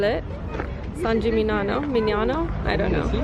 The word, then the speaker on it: San Gimignano: fun friendly as well I just realized I think I've been saying the name wrong I think I've been saying upon manana and it's fun I'm